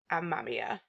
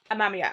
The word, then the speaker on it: Amamiya: I did look it up. And I'm pretty sure his name is Amamiya. Yeah, Amamiya. I'm sure that's how you pronounce it.